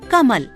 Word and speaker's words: कमल: लिए दिया जाता है जैसे नगर कमल इन शब्दों का उच्चारण करके देखिए इनका उच्चारण करते समय हम इनके दूसरे अक्षर क्रमशः ग और म पर अधिक ब देते हैं अब मूल्य अकाट्य इन